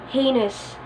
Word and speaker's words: heinous: the conviction of heinous crime but the correct pronunciation is heinous heinous he committed a heinous crime heinous another